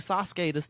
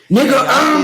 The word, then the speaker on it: Yasuke: That's like Sasuke, the Black Samurai. The Sasuke or Yasuke? Like I don't trust his pronunciation.